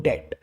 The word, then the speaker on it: debt: सो I kept sinking into डेट। इसको actual में spelling है DEBT, लेकिन इसको डेट ही बोल दिया जाता है। आप इसमें से बी हटा के प्रोनाउंस करिए, डेट बोल दीजिए।